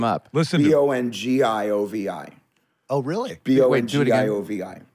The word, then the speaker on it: Bongiovi: B-O-N, yeah. The same way. G-I, which in Italian phonetics is the J sound. Yeah, oh, okay. So it's pronounced the same way, but it's B-O-N-G-I instead of a J.